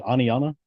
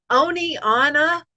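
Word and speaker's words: Oneonta: They'll talk about something happening and they'll say Oni Anna.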